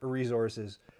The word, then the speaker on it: resources: I get weird about the word resources because I pronounce it like it's a Z in the middle, and then I noticed that like Americans don't, and people got on my case for it on YouTube.